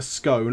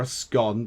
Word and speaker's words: scone: cup of tea and a scone or askon depending on however you want to pronounce it for goodness sake and